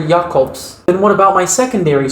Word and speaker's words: Jacobs: He doesn't pronounce it Jacobs. His name is Dr. Jacobs.